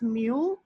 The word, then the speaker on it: mu: This is the symbol mu m e w pronounce it as mu and mu is is the ratio between two forces.